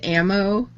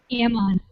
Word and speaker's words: Ammon: you say did you say his name was ammo yes I did Ammon okay that he's a he's